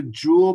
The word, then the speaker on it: joule: The joule, pronounced joule, is the SI unit, or the units we're going to use for energy.